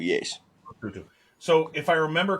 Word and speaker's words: Lesotho: It's pronounced Lesotho, yes. Lesotho.